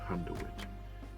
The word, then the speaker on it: Handewitt: Denmark and Germany in little village called Handwit. That's how you pronounce it.